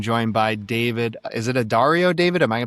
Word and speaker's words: Addario: Is it Addario, David? Am I pronouncing that correctly? Unless you're in the South, then it's Addario. Okay. All right. Addario.